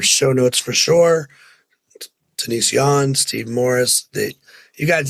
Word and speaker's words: Yohn: pronounce Yan, right?